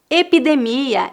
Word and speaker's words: epidemia: de coroa número dois epidemia e pandemia presta atenção que a sílaba tônica dessas palavras a no final epidemia pandemia as palavras terminadas com